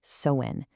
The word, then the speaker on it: Samhain: And by the way, it's pronounced sewin.